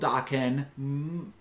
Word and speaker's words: Daken: um but this is daken which is a three four I believe it's called Dokken I saw some Twitter discourse that that is how you pronounce it and it adds the